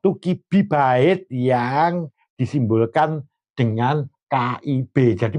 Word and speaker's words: kibibyte: Jadi kalau ada I itu berarti berbasis biner. Bacanya kalau kilobyte ya kibibyte. Nanti 1 megabyte berapa?